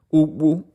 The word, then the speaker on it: Ugwu: Todos los personajes son importantes y y creo que profundizamos en ellos de igual manera, pero Ubu, este personaje va a ser el más importante. Ubu se escribe UGWU, es un niño apenas de 13